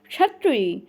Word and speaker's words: क्षत्रिय: तो इसी प्रकार आपको उच्चारण कैसे कंठ और मूर्धन्य मिलाकर बोलना है, कैसे, क्षत्रिय, क्षत्रिय। इसका प्रोनाउंसिएशन जो होता है आप, या शुद्ध जो उच्चारण होता है क्या है, क्षत्रिय। तो ये क्षत्रिय क्या होता है, क्षत्रिय क्या होता है, सही होता है।